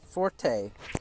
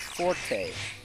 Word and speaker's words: forte: forte right but actually the French word meaning your best skill is pronounced Fort like a like a